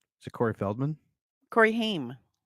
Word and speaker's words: Haim: Corey Haim. Corey Haim, that's right. Yeah. Oh, as a kid, I always said Ham too.